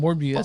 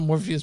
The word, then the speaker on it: Morbius: And by the way, the movie's called Morbius. By the way, guys, not Morpheus, but Morbius.